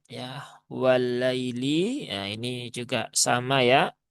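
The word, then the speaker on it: والليل: Jadi cara membacanya ya seperti sifat dari huruf lin yaitu dibaca dengan cara yang lembut saja. Wallai jangan wallaili. Wallaili. Nah, itu ee kurang sesuai ya karena lin itu dia halus ya.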